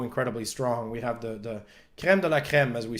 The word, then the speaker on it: crème de la crème: We have the crème de la crème, as we say. We like to say it in English, but I pronounce more the French way.